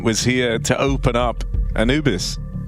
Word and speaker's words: Anubis: Obviously, the one time they didn't was here to open up Anubis. Or Anubis, as it's officially pronounced.